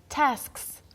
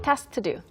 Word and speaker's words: tasks: 그래서 저만의 프로젝트가 있고 그 다음에 task가 task까지만 K를 넣어서 그냥 발음을 하면 발음이 쉬운데 S가 들어가면 좀 까다로워져요. Yeah. Tasks.